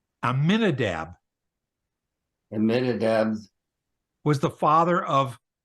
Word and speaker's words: Amminadab: on it okay keep you read the letters that are there and you pronounce the letters amminadab aminadab was the father